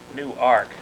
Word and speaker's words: Newark: We were fooling around with the pronunciation of your home base, and some people are saying Newark, and then in the poem it popped up as Newark.